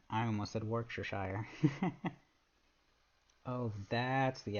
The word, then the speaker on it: Worcestershire: also my head hurts no pronounce Worcester Shore no chess sound Worcestershire that's but why